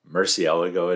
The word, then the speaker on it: Murcielago: yeah that's a mouthful i've heard this car described several different ways pronounced several ways and so i decided i'm going with the way ed bullion pronounces it double checked and sure enough murcielago it is this is a little